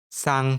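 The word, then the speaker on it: 싸: However, if it becomes double, it will become sang shiot. This is read as sa. To pronounce it correctly, prolong a little air for a bit as you speak.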